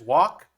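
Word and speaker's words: Gwak: you can see that it is written out as g-w-a-k as far as i can tell in korean that is wak um uh the g is silent i believe it could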